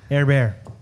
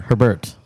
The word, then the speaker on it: Herbert: bear again he's Herbert air bear Justin hang on I got pronunciation here Herbert Herbert air bear like Sherbert when he starts slinging